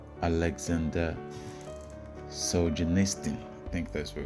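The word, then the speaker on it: Aleksandr Solzhenitsyn: It's written by a Russian called Alexander Solzhenitsyn. I think that's what it's pronounced. Alexander Solzhenitsyn.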